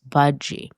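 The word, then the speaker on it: pav bhaji: I asked Hershel 10 million times and every time I say it, he's like, "It's budgie." Budgy. But I don't know. There's a certain syllable that I struggle with.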